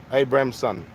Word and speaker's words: Abramson: your great cable Amberson how do you pronounce your name exactly how it's spelled Abraham son yep Constable Abramson fresh out of the